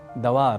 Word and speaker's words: द्वार: को जोड़ देते हैं जैसे एक शब्द है द्वार जिसे हम मुख सुख या कुछ प्रादेशिक प्रभाव की वजह से दवार बोल जाते हैं वस्तुतः द्वार के ड के बाद हम अतिरिक्त रूप से अ अक्षर जोड़ लेते हैं ऐसे ही अतिरिक्त